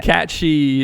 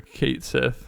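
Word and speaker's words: Cait Sith: Catchy is how it's pronounced. Everyone and their mother called her Kate Sith, and the original called them Kate Sith.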